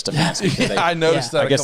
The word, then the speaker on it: Stefanski: And the second thing is that our head coach must be named Stefanik instead of Stefanski.